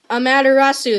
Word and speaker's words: Amaterasu: And I actually upgrade Amaterasu that way.